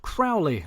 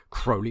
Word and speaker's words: Crowley: assumed it was pronounced crowley like owly but i recently came across a few items online that suggest his name was pronounced crowley like holy and indeed he was said to remark it's crowley like holy not proudly